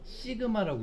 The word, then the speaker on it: 시그마: 얘는요 기호가 표준 편차 기호인데 시그마라고 읽어요.